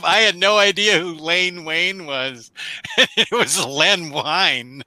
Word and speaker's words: Len Wein: his tongue and just I think it's really Len Wein. I said Len Len Wein.